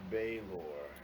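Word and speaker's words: Balor: but it is most commonly known as the Baylor. You spell that B-A-I-L-O-R?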